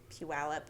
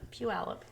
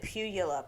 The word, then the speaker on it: Puyallup: know where that is Puyallup Puyallup when I moved here I had no idea how to say that yeah that's definitely a local thing you have to learn I think I said pugula yeah it's no one